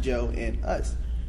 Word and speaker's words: Jonas: of his name because his name is Jonas, but it's pronounced Joe and us.